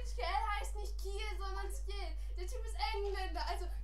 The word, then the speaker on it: Ciel: Deswegen wird Ciel auch nicht Kiel, sondern Ciel!